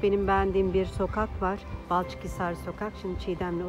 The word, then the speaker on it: Balçıkhisar: Balıkçıhisar mı, Balçık mı? Balçıkhisar.